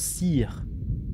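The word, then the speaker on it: Cere: Je prononce Sire. Moi, quand il va... Ah oui, c'est Sire. Enfin, en vrai, ça dépend, le nom est prononcé de différentes manières selon le perso. Non, mais on va l'appeler Sire.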